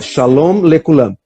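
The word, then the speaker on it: שלום לכולם: E lá eles pronunciam muito nítido, tu sabe direitinho que a palavra acaba com M, com N, nunca fica na dúvida. Ela tá falando, então é shalom lekulam.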